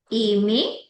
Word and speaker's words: aimer: जो ईआर की प्रोनाउंसिएशन आती है वो ए जाती है.